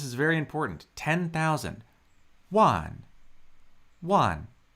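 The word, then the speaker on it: 万: One. That's just a single syllable with a 4th tone.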